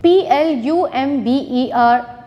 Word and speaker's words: plumber: Tom B is silent p-l-u-m-b-e-r plumber B is silent g o u r